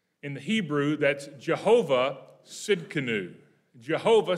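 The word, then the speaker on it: Tsidkenu: spell it right because it starts with a silent t you know why they do that i don't know the t is useless but it's there so it is capital t s i d k e n u t s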